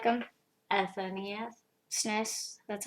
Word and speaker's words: SNES: SNES.